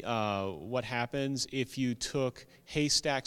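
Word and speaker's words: HASTAC: So I manage a website that has a funky acronym, and it's pronounced Haystack, but it's spelled totally differently, H-A-S-T-A-C.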